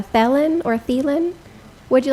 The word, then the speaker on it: Thelen: speaker just tell us your name how to spell it and I'll swear you in uh thielen T like Tom H Len and also live